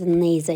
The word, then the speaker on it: neither: Келесі either and neither есімдіктері. Either, either. Neither, neither. Either деп те оқылады, neither деп те оқылады. Өйткені біреуі америкалық, екіншісі британдық pronunciation. Қалай оқысаңыз да ол қате болмайды.